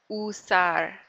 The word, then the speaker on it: usar: Listen to that U. It's a little bit different sound than in English. U. Usar. Usar la computadora. Usar la computadora.